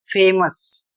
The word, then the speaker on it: famous: इसके बाद अगला पैटर्न है ओ यू एस और यह सफिक्स के रूप में यदि काम करता है तो इसका उच्चारण हो जाएगा अस। ओ यू सचवा साउंड के नाम से जाना जाता है। यहां पर यह शब्द लिखा है और इसका उच्चारण होगा फेमस।